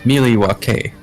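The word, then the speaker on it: Milwaukee: which is actually pronounced Miliwake, which is Algonquin.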